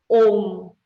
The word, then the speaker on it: Om: Este símbolo, ele é o som OU com a nasalização. Então, se pronuncia OU, certo?